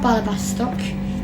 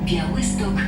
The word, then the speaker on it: Białystok: I don't know how to pronounce it, but it's not Blałibastok. It's the PA will tell you, but Następna stacja Białystok Zielone Wzgórza.